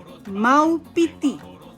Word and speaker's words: Maupiti: Maupiti.